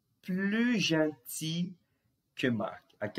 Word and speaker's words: gentil: Tomem cuidado aqui nesse caso, porque o adjetivo a gente não pronuncia os L's, tá? Isso aqui é uma exceção. Gentil. Normalmente os L's no final de uma palavra, os L's são pronunciados. Porém, nesse caso aqui, nós temos uma exceção.